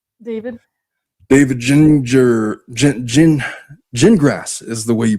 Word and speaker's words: Gingras: David Ginger Gin- Gin- Gingrass is the way you pronounce his name. Is it Gingrass? I thought it was Gingers. He said gin like the drink, grass like the plant.